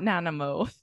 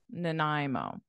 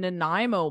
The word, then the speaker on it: Nanaimo: as I Nai Nai and then the beginning is like unstressed so it's like a no uh nanimo nanimo Nanaimo do you recognize the